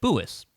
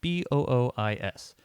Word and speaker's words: Boois: oh hey what's your name and i said boois because that's my nickname and they're like okay how do you spell that and it's like b-o-o-i-s and like all right and they give it